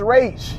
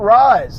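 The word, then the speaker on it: Ra's: his name is pronounced race if you can't pronounce it you just go online it'll take like 10 seconds and you'll find out that his name is rage it's not rise it's just laziness and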